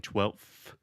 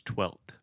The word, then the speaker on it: twelfth: So the F in 12th, we don't pronounce at all. Huh? So there's an F in the word 12th. We write it Twelfth, I believe. But the F, we don't pronounce that. So you were saying 12th, but it's 12th with the normal TH sound at the end.